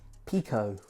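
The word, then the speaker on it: Piqo: Just their latest Pico, I think it's pronounced.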